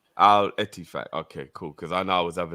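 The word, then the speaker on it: Al-Ettifaq: Sultan says the team that wants Fab is pronounced the same as Man City Stadium and Gerrard is El Etifak. If you're confused with the name, Al Etifak.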